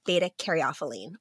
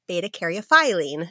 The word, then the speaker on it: beta-caryophyllene: to be talking about beta caropine or beta caropine depending on how you say it said both ways both are correct so beta cophine is